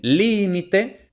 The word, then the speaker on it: límite: entonces aquí por ejemplo en límite la sílaba tónica es la primera Li y además según las